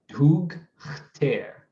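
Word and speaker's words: *dʰugh₂tḗr: So probably hug ter, and the H2 is going to be in the beginning of the second syllable, what is known as the onset of the second syllable, right?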